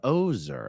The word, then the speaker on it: Ozer: It's pronounced like bulldozer. Okay, so Jessica Ozer.